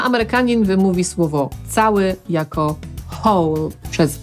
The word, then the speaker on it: whole: Zapytacie, co w takim razie ze słowem, które zapisujemy w hole i znaczy cały. całe. To już czytamy inaczej. Brytyjczyk powie whole i tak usłyszymy to tutaj.